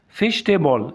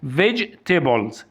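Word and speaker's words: vegetables: فايلين فايلين قالت كمان ما اسمهاش فيجتيبل اسمها فيجتيبلز فيجتيبلز طبعا الاي سايلنت فيجتيبلز دي اسمها ايه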